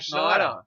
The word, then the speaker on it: Schneider: SCH is a sh, as in shut the fuck up. Oh, shit. Or scheiße. Yeah. Sure. Right? SCH. It's pronounced SH. SH. It is always and always will be, always has, always will be pronounced SH.